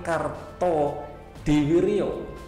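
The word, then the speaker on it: Kartodiwirjo: Nama lengkapnya yaitu soekarni Karto diwiryo ini ejaan lama lah ya bukan diwijo tapi diwiryo gitu ya Sukarni merupakan salah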